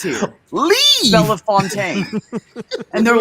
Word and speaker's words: Bellefontaine: It's supposed to be pronounced Bellefontaine because it's French, right? I see it or whatever. Yeah, and so they in Ohio they call it Bell Fountain.